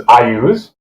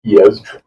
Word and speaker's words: Iuz: oppose Iez, which is, some people pronounce as Iuz, which was new to me, but yes, it was Iez.